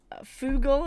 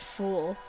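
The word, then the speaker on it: Fugl: I've played is called foo goal is how a lot of people pronounce that I've been told by the developers it's pronounced fool but who knows it's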